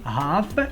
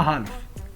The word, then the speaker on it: half: Attention, il faut bien prononcer F, la lettre F, et non pas L. On dit half et non pas half. Qui veut dire la moitié d'une heure. Alors, comme je vous ai dit, on fait toujours bien attention à prononcer le H et par contre, oubliez la lettre L. Oubliez le L.